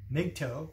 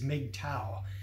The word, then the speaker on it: MGTOW: since 2012 I've called I've called mgtow big toe I've always done that sometimes for all these years but gradually it's been extort of pretty much accepted that the way it's pronounced is made towel so if if you